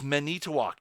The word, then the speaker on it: Manitowoc: It's Manitowoc. It's an I. Stupid. Why do people spell things dumb? You want it pronounced use a U.